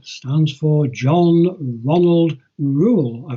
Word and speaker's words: Reuel: stands for John Ronald Reuel I pretty much how you pronounce that rule re u e L John Ronald Reuel right